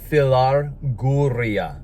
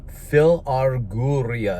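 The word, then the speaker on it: philarguria: this greek word for lover of money is filar guria phil arguria if you want me to spell it for you it's p-h-i-l just like phil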